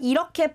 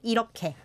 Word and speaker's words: 이렇게: Yeah, 이렇게. Not 이렇게. No. Don't say it how it's spelled. Like you said, the here is affecting it there.